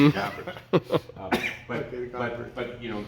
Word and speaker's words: garboard: we're putting on the Garboard. Garboard. But you know, Garbot, you know, if you're in French, it's the same word basically, but definitely the R is normally pronounced.